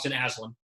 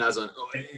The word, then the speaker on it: Aslan: And I do want to give a shout out, I want to make sure I pronounce the name right. Ashlan. Austin Aslan.